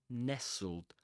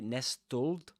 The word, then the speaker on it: nestled: Yeah, nestled. That one, you don't say nestold, just like you don't say castol, you say castle. Yeah, you don't pronounce the t there.